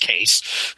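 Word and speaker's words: Kase: was was Corey K believe it's pronounced case k a s e so it was it was Corey case so to Corey Dan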